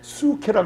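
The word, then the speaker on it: ψυχή: 푸뉴마라는 영, 그리고 soul, 그리고 푸수케인데 수케라 그러죠. 피자 사이콜로지 하듯이 피자가 발음이 안 나요.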